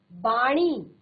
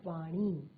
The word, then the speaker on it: वाणी: बाणी, बाणी नहीं होता, सही शब्द जो है आपका वो है वाणी।